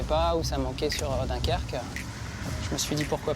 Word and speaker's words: Dunkerque: Il n'y en avait pas ou ça manquait sur Dunkerque.